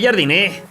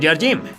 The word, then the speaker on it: Jardine: André Jardiné, o Jardim, como lo quieras pronunciar, nació en Porto Alegre hace 44 años.